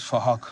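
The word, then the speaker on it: Phuc: His name is Fahak. It's spelled with a PH, so it sounds like Fahak. Please! All right, Fahak, Kanda Fahak.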